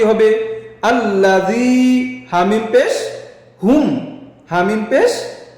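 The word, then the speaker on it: الذي: উচ্চারণ কি হবে? আল্লাযী।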